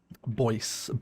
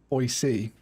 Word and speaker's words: Boise: Boise. Boise. Right, Boise. Lots of Mormons, says Harry.